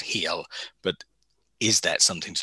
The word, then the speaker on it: Hel: Um and even this this realm of the dead um it's spelled h e l one l pronounced heal, but is that something to do with the Christian hell?